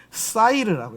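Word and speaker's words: שעיר: 경상도 발음 같은데 쌀 아니고 살 같은 느낌. 사이르. 여기 점이 뒤로 가면 뭐예요? 샤가 되겠죠. 샤이르가 되겠죠. 그죠? 앞에 와서 사이르.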